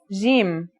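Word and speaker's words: جيم: our first letter is jim this one is easy to pronounce it's somewhere between a g and a j depending on the accent for example standard arabic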